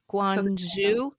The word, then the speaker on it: Guangzhou: You grew up in um Guangzhou? Guangzhou.